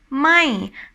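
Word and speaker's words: ไม่: ไ ม ่, and it's falling tone.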